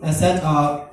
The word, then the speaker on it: Isa: I said, my official name is, but people also call me Isa. And I pronounced Ayn with perfect standard Arabic.